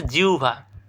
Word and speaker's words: জিহ্বা: এরপরে জিহ্বা। এটার সঠিক উচ্চারণ জিউভা।